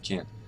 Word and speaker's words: can't: But as far as the pronunciation of the T at the end of can't, I can't do that.